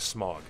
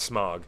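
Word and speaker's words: Smaug: seriously he says that the audio book of The Hobbit pronounced the dragon of smog they should have known better dude really they should have known better it's definitely not smog you need to do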